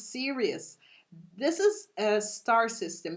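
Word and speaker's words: Sirius: to tell you this Sirus is one of the serious Ser because people have different pronunciation but it's serious this is a star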